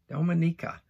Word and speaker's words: Dominica: in the eastern caribbean i'll see there dominica dominica i know i said it right because i spelled it out phonetically for myself dominica all right you're saying